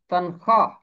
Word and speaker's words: تنخواہ: زبان کا لفظ ہے، یہاں بھی واو خاموش رہے گی، یہاں واو معدولہ ہے۔ اپنی تنخواہ پر، تنخواہ نہیں ہوگا اس کا تلفظ ہوگا تنخواہ۔ اپنی تنخواہ پر کفایت